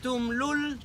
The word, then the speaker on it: Tulum: The other way to pronounce Tulum is Tumlul, And that changed very much because when you say Tumlul means stinky place. Oh. That's why nobody pronounces it that way.